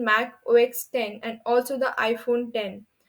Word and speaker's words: Mac OS X: original brand identity was use of Roman number X pronounced as 10 as in mac o x 10 and also the iPhone